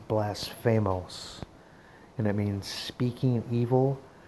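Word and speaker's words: βλάσφημος: nine eight nine word and it's the word blasphamose that's how the phonetic pronunciation it's blasphamose and it means speaking evil slanderous reproachful railing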